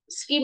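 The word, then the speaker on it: scheme: giám đốc vận hành skim là kế hoạch từ này đọc là skim nha Có e thì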